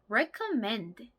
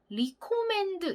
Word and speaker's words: recommend: 영어로 recommend 라고 합니다. 이거를 단어를 알고 있더라도 발음을 잘못하시는 경우가 있더라고요. recommend 이렇게 발음하시는 경우가 있는데요. re가 아니라 re입니다. recommend, recommend, recommend.